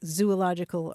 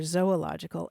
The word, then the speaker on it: Zoological: a Zoological Garden but you see those two letters together in English and uh you do think zoo and so today people will use those words interchangeably like Zoo ological or Zoological and you know what's